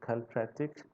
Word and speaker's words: Kilpatrick: Uh, Actually, we do pronounce it Kilpatrick.